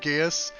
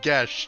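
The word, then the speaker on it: geas: you know what neil i have always said gaius i actually put it into a thing to make sure i pronounced it right it's gesh i never knew that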